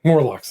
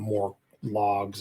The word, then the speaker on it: Morlocks: Morlocks. I think I called them more logs or something. Morlocks. That's right.